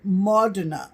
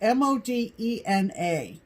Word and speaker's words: Modena: September in Italy is in ma Donna and it's mo de na but I've heard people